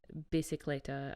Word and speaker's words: bicicletta: I think it is bicicletta because Bicicletta.